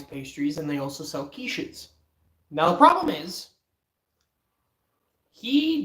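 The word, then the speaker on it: quiche: My friend said, "Can I have a quickie?" Cuz that's how he thought it was pronounced. I had to quickly pull this man back and say, "Bro, bruh, it's pronounced kiche. It's pronounced kish."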